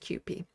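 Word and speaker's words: CUPE: And in case anyone is wondering, it is pronounced QP. Sam was trying to do that and it was really cute seeing him try to pronounce QP on the majority report.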